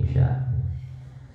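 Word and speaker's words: عشاء: Wal isya ulang sholat isya bikasir aini kelawan dibaca kasroh aine jadi bacanya ain isya.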